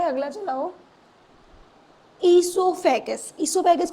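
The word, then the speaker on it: oesophagus: इससोफेगस। इससोफेगस को क्या बोलते हैं? फुटब ओसोफेगस नहीं है। वो साइलेंट है यहां पे।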